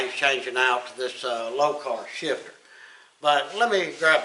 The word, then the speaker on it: Lokar: what we're going to do is install a low car shifter I recognize how you pronounce it l o k a r low car or lock R however you want to say it but we're